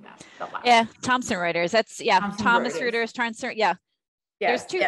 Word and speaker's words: Thomson Reuters: direct sourcing program, especially at a company like Thomas Reuters. I always have trouble pronouncing that. Yeah, Thomson Reuters.